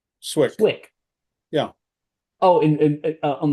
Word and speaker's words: Cwik: Is it Cwik? It's Swick is how you pronounce it. Swick.